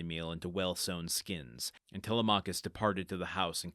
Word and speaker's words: Telemachus: Telmachus, it's going to be moving forward.